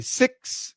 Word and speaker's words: six: Six versus sex. Okay, so this is six is a short I, and sex is a short E.